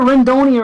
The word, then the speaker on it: Rendoni: He said it's like I think he said like macaroni.